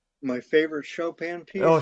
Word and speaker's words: Chopin: And uh one question from the audience says uh what is your favorite Chopin piece? I think uh my favorite Shopan piece.